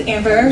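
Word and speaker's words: Ambera: Hello, my name's Amber, spelled A-M-B-E-R-A. The A on the end is silent.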